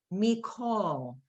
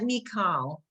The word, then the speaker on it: mikol: The second word on line 2 is pronounced mikol. Manishtana halayla haza mikol halay. It's Oh. not mikal because there are certain words which are exceptions.